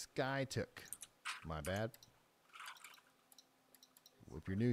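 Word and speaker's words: Skiatook: to one tornado warning it's pronounced Sky took my bad if you're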